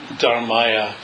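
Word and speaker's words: धर्माय: And with the next three, it's Namo Dharmaya, Namo Sanghaya, with no extra ha sound at the end.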